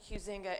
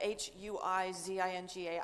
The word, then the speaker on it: Huizinga: We're going to talk to, as I said, my name is Huizinga, Huizinga.